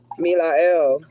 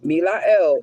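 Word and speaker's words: Melahel: Okay, we have Milael, the archangel, God deflecting evil.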